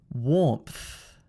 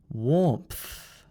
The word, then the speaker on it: warmth: sound repeat after me warmth warmth warmth can you hear the th sound at the end there can you hear the little th sound the breath being pushed out at the end now let's do the